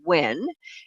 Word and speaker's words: Nguyen: Wen, who is the plaintiff in this particular case, and you do pronounce this as Wen, Nguyen, he purchased 2 units